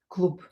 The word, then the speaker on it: Клуб: в клуб. Here this "б" will be pronounced as "п". Клуб. Клуб. Because voiced consonant like "б" at the end of the word will become unvoiced.